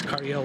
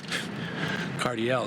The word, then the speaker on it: Cardiel: how you mean like if you say it it's Cardel ledge it's like you don't say it like Josh kis ledge no you don't say that you say cardiel cuz that's what I